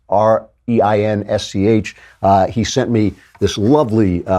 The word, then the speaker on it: Reinsch: I also would like to thank William Reinsch, who I don't know if that's how you pronounce it. It's Reinsch.